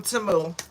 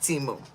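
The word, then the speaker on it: Temu: It's Timu, not T-Mu.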